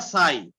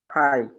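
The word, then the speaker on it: φ: যেমন এটার উচ্চারণ কি হবে? ফাই না সাই? ফাই।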